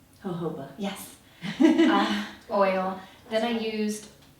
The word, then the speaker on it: jojoba: Jojoba.